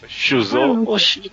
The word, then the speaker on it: Shuzo: Shuzo, cara. Mais conhecido. Prolongar o o, mas tá certo.